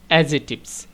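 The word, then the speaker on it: adjectives: আসলে এখানে ডিটা হচ্ছে অনুচ্চারিত। এটা সাইলেন্ট লেটার। এটা উচ্চারণ হবে না। উচ্চারণটা হবে এডজেক্টিভস।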